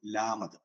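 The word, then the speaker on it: ܠܡܕ: അടുത്തത് ല എന്ന് പറയുന്ന ഉച്ചാരണം വരുന്നതാണ്. ഇംഗ്ലീഷിലെ എല്ല് ആണ്. ലാമത് എന്ന് പറയും. ലാമത്, ലാമത്.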